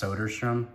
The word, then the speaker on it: Soderstrom: I think it's actually pronounced Soderstrom, but I call it Sodder.